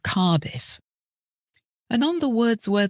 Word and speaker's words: Cardiff: exactly as they're spelled the double F in Sheffield is pronounced as one letter and the same at the end of Cardiff and on the words